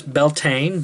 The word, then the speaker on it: Beltane: winter darkness the light half of the years beltane b-e-l-t-a-n-e is one way to spell it and of course the dark half of